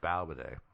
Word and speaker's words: Balbaday: All right, I said Bobaday. No, it's Balbaday. Balbaday.